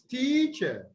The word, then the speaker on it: teacher: The first syllable is longer. And then you have the second syllable drops. The pitch would drop. Teacher, teacher. and then it is also louder. Teacher. Okay. Now, all three combined, you have teacher.